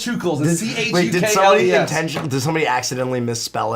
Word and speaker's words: Chukles: And it has to be Chukles, because they always spell it without the second C.